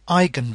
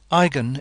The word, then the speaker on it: eigen: a name they're called igen vectors of the Matrix a notice how I pronounce that Igan is a German stemmed word the EI is pronounced I in German igen has to do